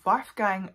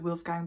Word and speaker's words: Wolfgang: loads of videos and every british an american person pronounces it wolfgang but i do believe the german pronunciation of this name is waffgang so that is how i'm going to say i'm so